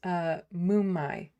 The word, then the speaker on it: Moomai: So pronounce Moomai. Moo like a cow and add me. Oh, Moomy?